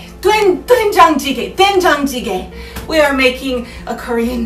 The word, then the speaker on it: doenjang jjigae: and it is called dengue jjigae. Isn't dengue a disease, Jerry? My kind producer has corrected my pronunciation. It is doenjang jjigae.